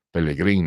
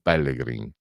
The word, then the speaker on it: Pellegrin: Sanson Sanson Teofilo Sanson Pellegrin non Pellegrin Perin non Perin perché a sud tendono ad anticipare l'accento e noi invece siamo più sdruccioli al al nord e pensate che lui